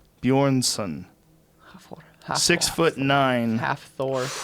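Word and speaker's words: Björnsson: do you say that name Hoffa for Julius bjornsen Yorn son six foot nine half Thor yeah he's six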